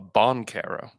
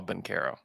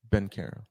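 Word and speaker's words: Banchero: name oh yeah hmm he called him paulo bonkaro i said no no no said let's let's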